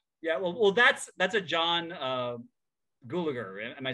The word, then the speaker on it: Gulager: The Gulager. I always say Gallagher, but I don't think Gulager.